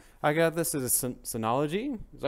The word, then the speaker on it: Synology: I got this as a Synology. Is that how you say it? Yep, Synology.